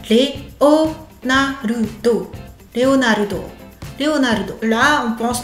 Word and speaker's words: Leonarudo: Cinq caractères, cinq syllabes. Léon Narudo, Leonarudo.